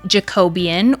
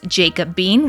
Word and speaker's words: Jacobean: stain we are using Jacobian which for 4 years I have been pronouncing this jacob beine which is just hilarious and embarrassing um so I'm going